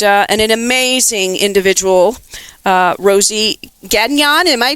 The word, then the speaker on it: Gagnon: and uh and an amazing individual uh Rosie Gan. Am I pronouncing your last name? I never asked you, my dear friend. Is that how it's pronounced? Pronounce your last name. Um Gan.